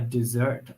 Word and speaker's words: desert: A desert island, not to be confused with a desert island, because that would be a very different thing. Listen to my pronunciation.